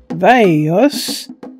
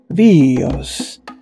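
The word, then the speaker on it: βιός: The philosopher Heraclitus comments on how both the name of the bow, Veios, is associated with life, Veios, with a different accent on the vowels, and said the bow has the name Bios, life, its work is death.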